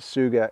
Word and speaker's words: Tsuga: by a company called Suga and it's spelled t-s-u-g-a but you pronounce it Suga and what makes this